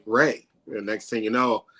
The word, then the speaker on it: Ray: cup I usually say Ray is Ray like the sunshine and so it kind